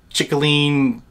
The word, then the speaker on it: Cicilline: baby of David Cicilline chicolini tyranny that's how you say his name he's a Democrat out